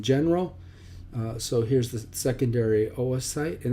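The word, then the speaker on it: oocyte: so here's the secondary Oh a site and that's not pronounced Oh site or site some people call a site but Oh a site if that could be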